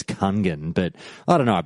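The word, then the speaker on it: Kungen: Nihilum, led by, and I pronounce it Kunyan, which is apparently is the proper way to say it. I know everyone says Kungan, but I don't know.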